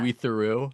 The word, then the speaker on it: Louis Theroux: Louis Theroux.